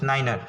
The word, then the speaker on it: niner: 9r and 100 year 9 is pronounced as niner remember this thing of